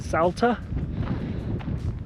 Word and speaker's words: Salta: It's taken us 5 hours to drive here from, I think they pronounce it Salta.